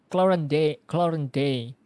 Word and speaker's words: Clorinde: How do you pronounce it? Clorinde.